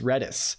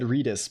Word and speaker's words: Redis: right FAQ FAQ pronunciation red is pronounced like the word red plus the word kiss without the K the main Dev behind